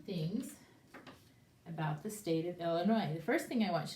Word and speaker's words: Illinois: And then we don't even say the S, because that's just the way it's pronounced, Illinois.